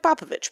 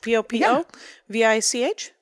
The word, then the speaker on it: Popovich: Popovich is spelled like Popovich. Popovich. That's correct.